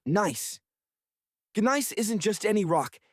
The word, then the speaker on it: gneiss: The surface is a mosaic of loose gravel and ancient rocks composed of granite and a fascinating stone called gneiss, pronounced nice.